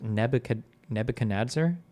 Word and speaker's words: Nebuchadnezzar: It's pronounced Nebuchadnezzar.